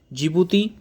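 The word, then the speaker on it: Djibouti: पुढे Eritrea जिबूती या जिबूती spelling डीने शरू होते जिबूती त पु इथोपिया आ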